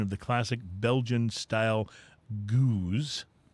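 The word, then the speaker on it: gueuze: it's spelled g-o-o-z but the name of the actual name goose the actual style name is spelled g-u-e-u-z-e okay gotcha okay yeah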